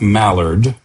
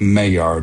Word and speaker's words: Maillard: So, not Maillard, uh but Maillard. It's spelled m a i l l a r d.